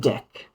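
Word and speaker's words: deque: but you pronounce it deck. It's like the word Q almost. It's like a cousin. So, that's why you pronounce it with a French kind of pronunciation.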